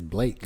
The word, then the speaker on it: Blaque: Make a long A sound. Blake is French.